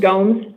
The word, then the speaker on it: Gomes: So, it is pronounced Gomes. Gomes. Yeah, Portuguese. What? It's Portuguese.